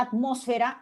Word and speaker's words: atmósfera: La palabra atmósfera implica que ese at yo lo pueda pronunciar efectivamente con la T, atmósfera, como con la D, atmósfera.